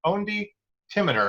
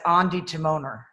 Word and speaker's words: Ondi Timoner: naples film festival and i am speaking with ondi timminer and am i pronouncing we do it again yeah yeah it's andy timoner andy timoner i apologize for that uh anyway